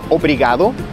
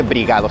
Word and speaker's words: obrigado: obrigado o brigada pero en general la mayoría la gente dice brigados simplemente le corta la o y lo termina la o inicial y lo termina con una